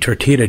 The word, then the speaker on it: tortilla: I've seen you eat tortilla chips. Forget it. Listen. Forget it. No, Patrick, it's tortilla. It's Spanish. You don't pronounce the right. L. The L.